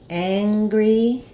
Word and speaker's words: angry: the word angry um so for angry we have the Ang um combination so here's where we have our a vowel like cat but when it's combined with the in sound the NG sound um it gets a little bit higher so um using a word like hang or sang can help you um if I if